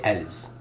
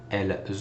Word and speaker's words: elles: So in this case, the feminine version of they is elle with an S. We call it elle pluriel. Do not pronounce the S. We do not say elles.